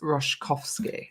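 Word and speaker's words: Roszkowski: you for the coverage Ros roskovski is pronounced roskovski thank you very much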